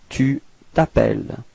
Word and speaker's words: tu t'appelles: We're starting with vowel, so it's the same thing as previously, disappears, so we get this tu t'appelles, okay, final S is not pronounced, tu t'appelles.